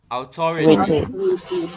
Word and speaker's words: authority: Jangan riti tapi reti. Authority. Authority.